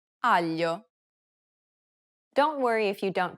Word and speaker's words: aglio: Listen to Desiree and pay attention to the way it's pronounced in the following words. maglia, meglio, aglio.